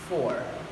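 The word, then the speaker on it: four: You pronounce the R. It's not 4. It's the real pronunciation is 4.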